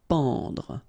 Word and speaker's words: pendre: Okay, so nasal here, en, en. Pendre, pendre.